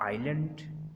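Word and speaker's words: island: एस इज़ not pronounced before L इन the following words. नीचे जो लफ्ज़ दिए गए हैं इसमें हम जो एस है उसको प्रोनाउंस नहीं करेंगे, उसके बाद चूंकि एल आ रहा है तो एस साइलेंट हो जाएगा।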